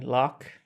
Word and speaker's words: Lough: So the main place would be my YouTube channel, which you can search for by Lough. Lough is Lough. Yeah, like it's pronounced.